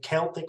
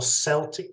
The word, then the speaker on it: Celtic: this this kind of Celtic or Celtic depending on your pronunciation mythical uh character who's